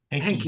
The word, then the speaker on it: Henke: I don't know how to pronounce that last name. Is it Hank or Uh, Hank? Hanky. Hanky. Hanky.